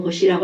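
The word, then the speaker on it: Bosch: 하버 혼자 한 건 아니고 보슈라는 사람, 발음은 보슈라고 할게요.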